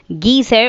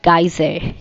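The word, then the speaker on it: geyser: गीज़र और गाइज़र दोनों ही इसकी राइट प्रोनाउंसिएशन है जिसमें हम पानी गर्म करते हैं, पानी गर्म करने की मशीन.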